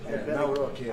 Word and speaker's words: Nawrocki: Gave me a little different pronunciation. I said, I want to get it perfect. Did I get it right? Yeah, good, good. Nawrocki. I better get it.